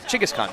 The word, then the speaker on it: Genghis Khan: their their presidential building it's all called Genghis Khan but yeah although they say it differently it's pronounced that Chika's Khan yeah I guess we're